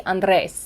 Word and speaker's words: Andres: Technically, it's supposed to be Andres. Like, Andres. you're supposed to go, rrr. Yeah. But I grew up in Minnesota, so Okay. I was raised to say Andres.